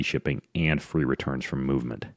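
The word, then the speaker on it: MVMT: and free returns from movement how you asked I thought you'd never ask you got a movement calm but it spelled like this M the M T calm so you got to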